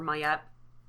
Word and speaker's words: Ma'at: And when I saw it, and I saw that Maat was one of the, or Mayet, sorry, I just keep pronouncing it Maat.